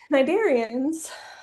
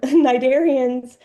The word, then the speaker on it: Cnidarians: So, Cnidarians so that that first C is silent. Cnidarians um have soft bodies and they have nematocysts.